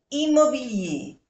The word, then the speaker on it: immobilier: Un bien immobilier. Inmobilier. Recordemos que cuando termina por ER se pronuncia E.